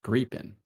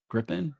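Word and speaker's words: Gripen: It's pronounced creepin. Is that always thought it was pronounced Griffin, but is that Me too?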